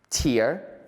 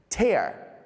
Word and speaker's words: tear: Another example could be, it's not the same to shed a tear when you cry than to tear a piece of paper. Tear, tear.